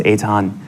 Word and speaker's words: Eitan: Yeah, well, my name is Eitan, and even though it's spelled Ethan, it's pronounced Eitan.